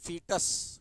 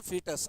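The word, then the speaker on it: fetus: बड़ा हो जाता है तो उसको बोलते हैं फीिटस। क्या बोलते हैं? फीिटस। अमेरिकन जो है ओ को साइलेंट हटा देंगे।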